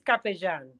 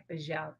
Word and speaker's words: Capella: So correctly is Capejan. Capejan. Capejan. So you will pronounce it like if the two L's were a J. Capejan.